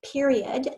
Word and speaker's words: period: The next word is period. The grading period ended in November. Say period. Now let's think about those 3 syllables.